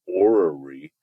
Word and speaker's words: orrery: This is a picture of what's called an orrery. Let me pronounce that again, just to make sure that you guys hear that.